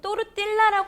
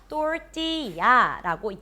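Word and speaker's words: 토르티야: 주세요 또띠아 이름이 귀엽죠이 스펠링 상으로 봐서는 우리가 영어 식으로는 또르 딜라라 읽어야 될 것 같지만 그렇지 않습니다이 또띠아 자체가 영어 단어가 아니기 때문에요 그나라 말 그대로 살려서 또띠야라고 야라고 발음해 주셔야 됩니다 먼저 또띠아를 접시나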